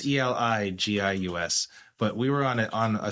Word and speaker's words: Eligius: But I would say like Elegius, Elegius. That's how I spell it. So you're well read, so you're pretty darn close. But right. It's Eligius.